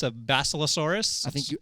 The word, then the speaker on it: Basilosaurus: This is I believe it's a Basilosaurus. I think you pronounced that absolutely correct.